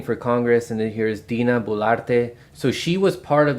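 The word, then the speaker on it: Dina Boluarte: I don't want to mispronounce it. Dina Bolarte. Yeah, you see 85% disapproval rating for Congress, and then here's Dina Bolarte.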